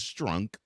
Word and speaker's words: Strunk: Adams Strunk and yes I'm not mispronouncing her last name it is Strunk she did not want